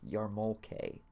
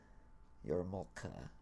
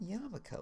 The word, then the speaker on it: yarmulke: ass like yeah yeah it's like yarmulke i'm saying like phonetically yarmulke your molka that's like how it's like said like phonetically and now why is it about yamaka like that like i